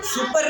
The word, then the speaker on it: supper: अरे सुपर नहीं है, सपर है। इसको सपर बोलते हैं।